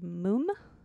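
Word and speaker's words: múm: lot I just rediscovered a band called moom m-u-m with an accent on the U and that I really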